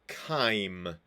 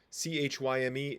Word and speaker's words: chyme: from a bolus to chyme c-h-y-m-e is so it's a k like sound CH in this case chyme partially digested food